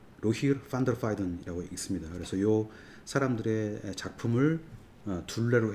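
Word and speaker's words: Rogier van der Weyden: 활동했던 로바르 깡 스링 그다음에 보통 로저 데바이 라고 발음을 하는데요 네덜란드식 발음으로 읽으면이로 로힐 펀더 파이던이라고 있습니다 그래서요 사람들의 작품을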